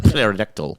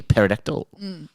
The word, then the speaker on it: pterodactyl: can't you hear a pterodactyl Is that how you say it? Yeah. Starts with a P, right? Yeah. I'm just trying to put a a picture around the world. A pterodactyl.